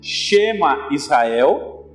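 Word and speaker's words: שמע ישראל: Qual seria a pronúncia disso? Então a gente lê da direita para a esquerda. Então está escrito aí, Shema Israel.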